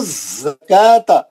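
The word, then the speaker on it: زكوٰة: लोगों की वो तो जकाता खत काफ पे खड़ा ज़बर है दो रकत खींचेंगे वाऊ साइलेंट है उसके बाद का जकाता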